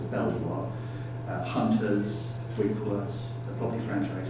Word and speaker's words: Belvoir: You've got companies like Belvoir, I know it should be pronounced Beaver, but I don't think a lot of people got Beaver, so it has to be pronounced as Belvoir.